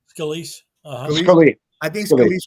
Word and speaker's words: Scalise: be, because they're not going to vote for Scalia, even though I think Scalia, is that how you pronounce his name? Scalise.